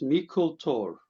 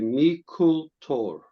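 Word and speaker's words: Meikle Tòr: It's going to be called Mikkel Tor, pronounced Mikkel Tor.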